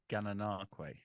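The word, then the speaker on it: Gananoque: How do you pronounce this one? Gananakwe.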